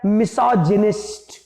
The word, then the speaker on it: misogynist: Spelling MISANTHROPE। दूसरा शब्द है मिसोजिनिस्ट।